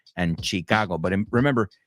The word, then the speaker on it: Chicago: it in English, it's Chicago. Lake Michigan is in Chicago. I know you say Michigan and Chicago, but remember, in English, both of those are shh, shh.